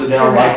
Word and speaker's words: Edel: Your name is Edel, right? It's pronounced Edel like the singer, right?